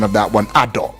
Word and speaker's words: Ado: to you right honorable you taught me the pronunciation of that one Ador right right now this was disclosed uh to